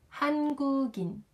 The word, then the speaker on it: 한국인: 한국인, 한국인.